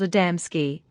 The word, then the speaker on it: Adamski: mentioned are well known to us but you mispronounce them the first is called adamsky the second gaves and the third mahalik these